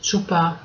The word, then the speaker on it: chup: things change so here this word originally was always pronounced chup must have been otherwise that it wouldn't have been written like this at least that's my explanation and but nowadays nobody does say that anymore so or I'm I'm